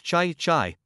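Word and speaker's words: 豺: Chai, pronounced in the second tone, is a kind of wild beast.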